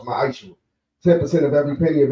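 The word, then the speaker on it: מעשר: It means 10th in Hebrew, and it's pronounced ma'ashur.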